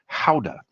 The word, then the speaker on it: Gouda: Uh smoked Gouda or as it's pronounced in uh Holland where Gouda originally came from, Howda.